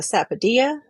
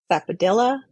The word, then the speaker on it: sapodilla: This is called a sapodilla or sapadilla, people will say, because they'll say the ya with the L sound. It's dia because it's Spanish pronunciation.